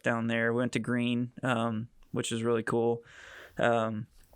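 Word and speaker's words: Gruene: We went to Green, which is really cool. Um, And thank and so goodness you anyway, said it her correctly. how do other people pronounce it, like Gruen or Yeah, Gruen? exactly.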